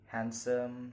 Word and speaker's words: handsome: Okay, the next is example of silent letter D. Wednesday, handsome, sandwich.